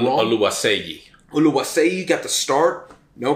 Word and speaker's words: Oluwaseyi: Oluwaseyi, but we've been saying his name wrong. Oluwaseyi.